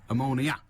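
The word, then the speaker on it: Omonia: Manchester City play Ammonia, which is spelt with an O, not an A, although I'll grant you there is an A at the end. Yeah, Ammonia. As opposed to ammonia, which stinks, frankly.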